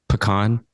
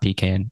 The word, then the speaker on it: pecan: 3 Texas like alliterations, which pecan, which thank you for pronouncing it that way because it's not pecan.